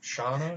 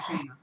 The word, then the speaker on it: Shanna: Shauna? Have its pictures of the fucking audience. What is this? Wait, It's a chick. Shiny. What? Shanna? Shanna. They pronounce it Shana.